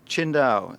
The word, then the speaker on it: Qingdao: Is that how I say it? Qingdao. That's you get used to it after a while. If you read it, you wouldn't pronounce it that way.